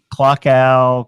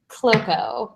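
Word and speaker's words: cloaca: So it actually is said cloaco.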